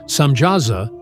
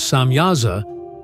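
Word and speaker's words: Semyaza: leader of these angels known as samasa sometimes pronounced as samyaza tells the Watchers that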